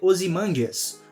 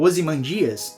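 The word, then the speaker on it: Ozymandias: anteriormente como o superherói Osimandias ou Osimandias. Seja lá como você preferir pronunciar.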